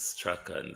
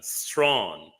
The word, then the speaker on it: Strachan: It's Strachan, that's how it's pronounced, not how you pronounce it, Wayne. No, Sandra, Strachan. That's the pronunciation I pronounce. It's the correct pronunciation. Strong is a quite much different thing.